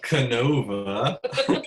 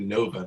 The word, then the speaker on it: NOVA: Good morning and welcome to Coffee with the Pastors, getting to Canova. Or getting to Nova. The K is silent, I've discovered. Oh, is it now?